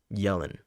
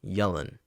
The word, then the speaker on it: Yelan: Yelan. Like I'm yelling. Yelan.